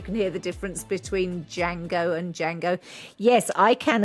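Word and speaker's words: Django: queried the name and the character claimed that the D is silent you have a big problem with that as you can hear the difference between Jango and Jango yes I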